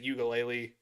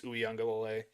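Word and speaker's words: Uiagalelei: Yeah, I always pronounce it Ukulele, but I think it's Uyunglele. Yeah, it's Uyunglele, I believe, yeah.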